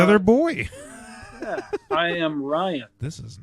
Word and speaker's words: Ryan: Yeah, I am Ryan. This is not fucking Yeah, I was like, working oh, here. oh, Sorry, I am Ryan that starts with an R, not a B. Oh, yeah. Ryan and Brian.